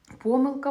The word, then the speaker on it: помилка: Діти, зверніть увагу, в слові помилка подвійний наголос.